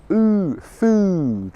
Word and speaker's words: food: them both okay mm can you see there how with mm my lips open slightly more for the short sound mm okay food food foot all right so the